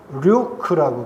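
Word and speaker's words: Luke: 영어로 발음하면 류크라고 그래요.이 사랑받는 의사 류크는 도대체 왜 의료이 선교단에 참여했을까요?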